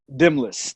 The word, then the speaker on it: Demnlus: The way you pronounce your first name is Demnlus. Demnlus. The N is silent.